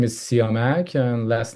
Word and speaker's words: Siamak: My first name is Sak and last name is Dean Pur.